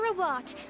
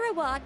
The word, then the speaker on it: Rawat: Rawat, a researcher from the what? Fontaine Research Institute. Now, without further ado, I'll hand over to Mr. Rawat to tell you all about what Rawat?